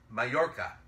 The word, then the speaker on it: Majorca: The last track will be Majorca. I think that's how it's pronounced.